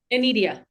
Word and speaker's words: Inedia: Anita, how do you pronounce Anidia? Anidia. Ania. Okay, I wanted to get the correct pronunciation. Anidia, you are so wonderful in this and it's such a powerful story.